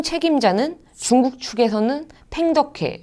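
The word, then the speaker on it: 彭德怀: 이 연합사령부의 총 책임자는 중국 측에서는 팽덕회, 중국 발음으로는 펑더화이라고 하는 사람이 맡았고 북한 측에서는 연안파의 김웅이라는 사람이 선임이 되었습니다.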